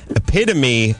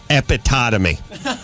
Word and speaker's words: epitome: Jason from Las Vegas, it says, Christine, epitome of a dumb blonde, although the first three times I looked at it, I pronounced it epitotomy.